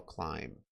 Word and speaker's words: climb: This is how we spell climb. Just like thumb and lamb, you don't pronounce the B, but there is one at the end.